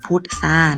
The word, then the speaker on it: พุทรา: ครั้ง นึง เนาะ อ่ะ ตัว ทร นะ คะ จะ ออก เสียง เป็น ตัว ซอโซ่ นะ คะ พุทซา นะ อ่ะ เดี๋ยว เรา